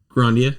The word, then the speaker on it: Grandia: Grandia. Okay, thank you. Just want to make sure. So I got the Grandia HD Say collection. Grandia, I want to slap your jaw loose. It has Grandia 1 and 2.